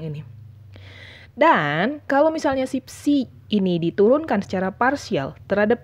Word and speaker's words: psi: Jadi yang ini dibacanya psi.